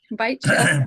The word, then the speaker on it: Beitch: I think, am I saying it right? Beitch? Beitch. It's German, but you're not the first person to mispronounce it.